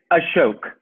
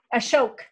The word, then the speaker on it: Ashok: and uh how am i how do i pronounce your name ashok it's ashok ashok okay right beautiful names and we're so happy